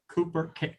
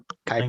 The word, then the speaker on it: Kuiper: star using the NASA Cooper, I can never pronounce that name, Airborne Observatory. Is that Kuiper? Kuiper. Thank you. The U is pronounced as an A.